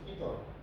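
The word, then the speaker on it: পিতঃ: যেমন ধরেন এটা ধরেন দুইটা তৎসম শব্দ, একটা নমস, একটা হচ্ছে পিতর। এখানে আছে একটা র এবং একটা স, কিন্তু সংস্কৃততে এই র আর স এর উচ্চারণ হয় না।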